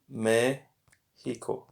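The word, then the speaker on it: México: so yeah yes day so remember how it was May hiko with the accent alright so I got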